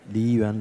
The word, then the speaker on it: Liyuan: in the culture category, and the winner is Liyuan Library by Li Xiaodong Atelier. So did I get it even remotely right, the pronunciation? Yeah, Li Xiaodong, that's the name in Chinese, and Liyuan Library.